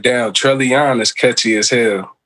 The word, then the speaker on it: Trellion: It's all, I always pronounced it Trellion, but it's funny, like, everybody, like, say Trellion. I'm like, damn, I wish I started off pronouncing it like that.